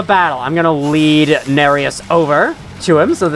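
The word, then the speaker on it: Nerius: little bit invaded by bloody finger narus is how you pronounce this name unlike Anastasia from before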